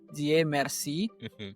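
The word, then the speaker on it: Dieu Merci: So, it's pronounced D Merci, which translate to God. Thank you.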